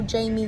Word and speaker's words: Jaime: family yeah I'd recommend Hotel Jamie 1 that's how you say it it's a freestyle hotel